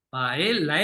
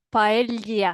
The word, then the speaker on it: paella: mm, Yo siempre les digo que hagan el esfuerzo de juntar la L y la Y, la Y. Entonces, un mm, poco la parte de pael, pael, la L de él, ujú.